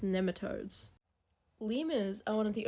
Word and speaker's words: nematodes: that orange substance to treat gastric parasites and nemat toia I've been informed it is in fact pronounced nematodes lemas are one of the only animals except